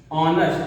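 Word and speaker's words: honest: है लेकिन वास्तव में वो उसका पहला अक्षर उच्चारण में वोवेल आता है स्वर आता है। जैसे हम यहां लिखें ऑनेस्ट ऑनेस्ट ऑनेस्ट ऑनेस्ट मैन देखिए हिंदी में इंग्लिश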